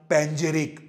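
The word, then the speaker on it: panegyric: extol এক্সটল্ট ইউলজি এনকোমিয়াম প্যানেরিক এই যে last word প্যানেরিক দেখো উচ্চারণ প্যানেরিক কিন্তু স্পেলিং এ দেখো পি এ এন ই উচ্চারণ এবং স্পেলিং মেলে না এন এর পরে যেহেতু একটা এক্সট্রা ই থাকে প্যাঞ্জেরিক ওয়ার্ডটাকে স্পেলিং টেস্টের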